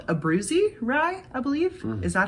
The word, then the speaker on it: Abruzzi: It's called Abruzzi rye, I believe. Is that how you would pronounce that?